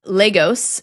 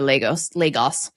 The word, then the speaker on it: Lagos: So would that make it Lagos instead, if it was Portuguese? Entirely possibly. We're pronouncing it like it's Spanish.